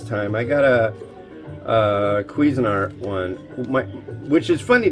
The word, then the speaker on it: Cuisinart: cuisinart but it's like i see how it's spelled it's cuisinart it's not lean it's cuisine remember a